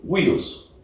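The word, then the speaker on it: υἱός: La pronunciación es como huios, ¿no?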